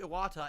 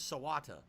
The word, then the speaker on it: Iwata: have noticed satoru satoru I got his name wrong Iwata Iwata Iwata I combined his two names satoru Iwata and I said his name was sawata I'm an idiot so